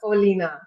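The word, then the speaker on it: Olena: And what about Oleana? Did I say that correctly? Yeah, Olina? right. Olina. Hi, Olina. Hi. Everything is right. You said it right.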